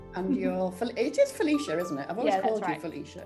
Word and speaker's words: Phylecia: felicia isn't it felicia it is felicia yeah yeah so many people pronounce it differently that um i've just stopped correcting people so what are some people saying well i get like someone called me philema the other day um and then